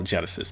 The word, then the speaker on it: Genisys: to spell it but we're going to call Genesis because that's the way they say it in the movie for some reason and